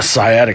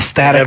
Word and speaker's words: sciatic: I've got a sciatic nerve that bothers me. You got your static nerve.